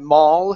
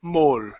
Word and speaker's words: maul: Here, you had maul and you're pronouncing a good a sound instead of saying mole.